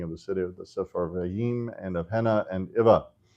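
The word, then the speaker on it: Sepharvaim: Safarvaim always gets me. Um, it looks like there should be an additional syllable there, but that last def thong should be just one vowel.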